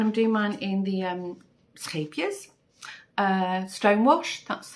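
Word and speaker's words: Scheepjes: I am doing mine in, I'm doing the bear, and I'm doing mine in the scapias, stonewash. That's how you pronounce scapias.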